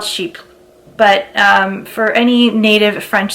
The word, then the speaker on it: Chypre: Based on the French I know, I'm pretty sure it is pronounced Chypres. But then sales associates will say Chypres. So I'm not sure if they're like Americanizing the name, or I'm pretty sure they're called Chypres.